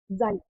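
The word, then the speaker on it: χ: और यहाँ पे हमारा प्रोपोर्शनैलिटी कांस्टेंट कितना आता है, जाई, इसको हम जाई प्रोनाउंस करते हैं, जाई। ठीक है, जेड आई या एस आई आप इस तरीके से बोल सकते हैं।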